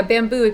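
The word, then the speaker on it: Bambu: they're kind of newer yeah bamboo but it's spelled with like a u ping me yeah but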